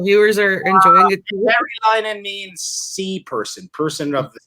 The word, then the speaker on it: Merilainen: Sorry, the last name is pronounced Merilainen. If you're in Finland, Merilainen. Merilainen. If you're here in North America, it's just.